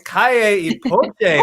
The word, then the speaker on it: Calle y Poché: Calle y Poché. What are y'all doing here? Guys, I love how you pronounce our names.